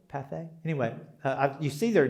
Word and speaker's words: Pathé: And there was a guy there named Path. I'm probably mispronouncing that. P-A-T-H-E with a little diddly thing over the E. Pathé, would it be? Pathé?